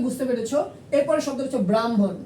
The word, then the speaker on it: ব্রাহ্মণ: এই বর্ণ থাকলে আগে ম তারপরে হ উচ্চারণ করব, ঠিক আছে?